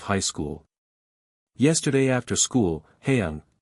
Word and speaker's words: Haeyoung: Yesterday after school, Haeyoung, pronounced Haeyoung, came up to me and my wife and showed me her school pictures, both her individual photo and her group/grade photo.